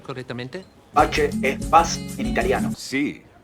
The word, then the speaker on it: Pace: José Carlos Pache. No pase, como he visto en otros lados.